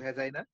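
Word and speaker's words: vagina: তাহলে আমরা 4 নম্বর যে অর্গানটা পেলাম সেটা হচ্ছে ভ্যাজাইনা, তো আমরা ভুল করে যেন ভাগিনা উচ্চারণ না করে বসি, ভিএজিআইএনএ ভ্যাজাইনা।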